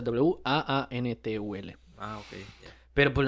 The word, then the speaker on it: J-wáan Tuul: Que en el otro caso, la pronunciación que se le daba al nombre en el primer relato era así tal cual, Huantul, sin la J. Juantum. Huantul, o sea, Waantul.